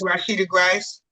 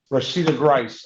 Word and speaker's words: Rashida Grice: Miss Harris, versus uh Rashitai Grace. Did I get the pronunciation correct? Grice? Definitely not, Your Honor. Good morning, my name is Rashida Grice. Rashida Grice.